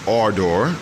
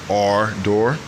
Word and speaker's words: Ardor: knows i got my hands on the mongoose our door our door that's how i was told that it's pronounced from mongoose personnel that's how they pronounce